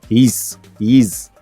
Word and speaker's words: HEIS: He said it's pronounced HEIS. HEIS.